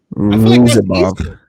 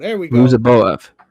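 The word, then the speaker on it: Ruziboev: Ruzabov. Is it Ruzabov? No, you close. Boev? Yeah, there we go. Ruzaboev.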